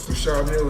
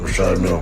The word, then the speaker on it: Richard Mille: No, I like to call this Well, they people pronounce them different ways. Richard Mille is what my jeweler told me so. Exactly. They say Richard Mille.